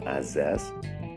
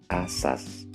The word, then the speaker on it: asas: adalah putar bukan hutan Lalu bagaimana dengan azas tiga sah zaman resiko dan sistem nah pelafalan yang betul untuk kata-kata itu adalah asas ijazah zaman risiko dan sistem teman-teman penutur bahasa Indonesia